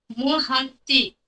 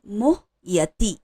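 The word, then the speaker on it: मोहयति: धीरस तत्र न मोह मोहती मोहति नहीं है मोह यति य य मोह मोहते मोह यति ठीक है थोड़ा प्रैक्टिस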